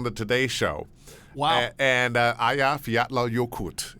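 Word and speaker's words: Eyjafjallajökull: Today Show wow and Aya fat yokut is the name of the volcano but it if you were trying to say it phonetically from the spelling yeah no way no way and uh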